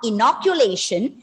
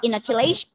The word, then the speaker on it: inoculation: is not inoculation it's inoculation inoculation and words end with t i o n remember uh stress on the penultimate syllable and bring down the schwa bring down the vowel sound to the schwa so inoculation inoculation is